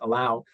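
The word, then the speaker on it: 3LAU: I think his name is Allow, but it's spelled 3 LAU, I think.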